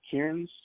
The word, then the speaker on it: Kearns: Is that how I pronounce the magistrate's name? Kearns? Kearns. It's Kearns.